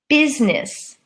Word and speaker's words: business: of us business business if you look at it it looks like it's busyness but that's a different word with a different spelling this is a noun business business and the I is silent but we have to